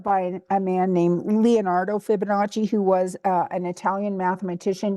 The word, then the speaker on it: Fibonacci: about this because I always want to, I pronounce it Fiba, but it's Fibonacci.